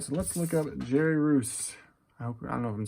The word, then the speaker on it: Reuss: Russ or Roos. Race. Large guy. 6'5", 227. From St. Louis, Missouri. Let's see. Not Mary. Jerry. Yeah, there he is. American baseball player. Royce. Pronounced Royce.